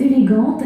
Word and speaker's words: élégant: If masculine, how to pronounce elegant? Élégant.